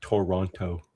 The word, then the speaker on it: Toronto: Not Toronto. Here it's kind of like, it's almost like one syllable. Toronto. Yeah, exactly.